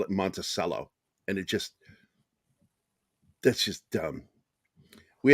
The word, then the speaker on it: Monticello: What I care about is that it's pronounced the way it was named, as Monticello, Thomas Jefferson's home.